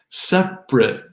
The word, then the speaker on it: separate: We have aspirin, aspirin, separate, prit. This is, by the way, just the adjective. The verb separate doesn't do this.